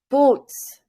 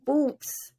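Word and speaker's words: בוץ: And you say boots. So linen is say boots in Hebrew.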